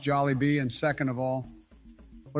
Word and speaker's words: Jollibee: I putting Bojangles up in a tier alongside jol and Zach be I know the people will love this decision first of all it's pronounced jollybee and second of all what about the people